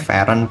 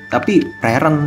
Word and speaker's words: Frieren: bayangkan gu ke mana Kasihan veren ya kan bacanya gimana Fen veren Fen gua kadang di diprotes itu bang itu bacanya bukanen tapi veren ya anjirlah Yang yang benar apa sih Fen